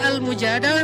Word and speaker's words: Al-Mujadalah: Jadi tergantung kita bacanya dilah atau dalah. Kalau kita baca mujadilah, berarti perempuan yang lagi curhat. Kalau kita baca Al-Mujadalah, berarti curhat itu sendiri.